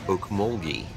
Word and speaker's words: Okmulgee: she said it's pronounced Oak mulgi with a soft G so there you have